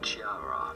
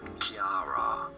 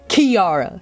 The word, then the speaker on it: Chiara: do you say it no it's not Chiara but rather Kiara he got my ass it's Kiara that makes more sense the spelling was throwing me off cuz they spelled it